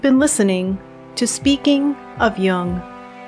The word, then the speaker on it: Jung: Just be sure to pronounce Jung with a hard J. So with special thanks to Routledge, you've been listening to Speaking of Jung.